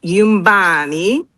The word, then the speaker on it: Yumbani: The book is called Yumbani. The N is kind of silent, not completely silent. So it's pronounced Yumbani, and that is a Kiswahili word that means home.